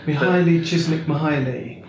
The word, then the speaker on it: Mihaly Csikszentmihalyi: Mihaly Csikszentmihalyi. Yes. That's his name. Thanks for pronouncing that for me, Rob.